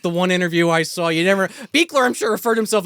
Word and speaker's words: Buechler: Beekler, I'm sure, referred to himself as Buechler at least once in history.